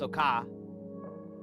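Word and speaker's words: そうか: Japanese soka, pronounced soka, meaning is that so?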